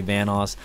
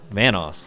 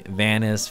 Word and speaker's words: Vanoss: pronounce it you know people call me vanis Vos you know venuse I've been getting a